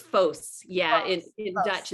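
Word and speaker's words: Vos: pronounced Bose loss it's foes yeah it Dutch it's both most Americans would probably say boss yeah but either way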